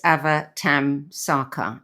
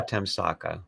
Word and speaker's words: Avatamsaka: phonetically, it's Avatamsaka, I think. That's correct. Sutra. Avatamsaka.